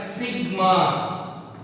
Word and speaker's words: sigma: This one sigma. How to pronounce this?